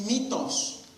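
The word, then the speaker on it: μῦθος: La palabra aquí griega es mitos.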